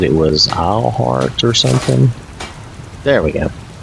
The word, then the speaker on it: Eilhart: The spelling of it is E-I-L, and that's why I'm saying Eilhart. If that's supposed to have some other pronunciation for all you fans of this, then you'll just have to let me know.